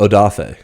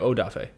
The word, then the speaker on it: Odafe: i i would love to get your opinion adafe adafe adafe adafe odafe it's spelled o d a f e o d